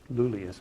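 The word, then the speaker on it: Iulius: In fact, it wasn't even pronounced Julius because the Romans didn't have a letter J. They just used the letter I, and it was like Lulius, but we'll call him Julius.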